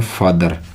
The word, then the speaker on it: father: मैंने लिखा है यहाँ पर FATHER, हम इसको बोलते हैं फादर। क्या बोलते हैं? हम बोलेंगे फादर। फादर नहीं होता, मैंने कहा था कि आर का उच्चारण नहीं होता, आर का उच्चारण नहीं होता।